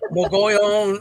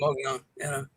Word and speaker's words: Mogollon: If you look up Mogollon on the internet, how to pronounce it, there's 5 different ways. I know. Mogollon, it's like no, just quit. I'll go on with Mogollon. Yeah, and then the only difference I've really heard is Mogollon.